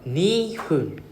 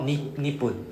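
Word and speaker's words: にふん: So, the next one, nihun. Nihun. Right? Then it's like not nippun. Nippun sounds nice, but I don't know why they don't use nippun. But it is nihun.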